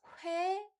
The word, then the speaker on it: 회: So again, let's practice 회 and 의. 회, just think it as a combination of two letters. 호 and 에. 회.